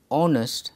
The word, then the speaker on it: honest: the vowel sound because the sound of the letter h is silent therefore it is pronounced honest and ann is used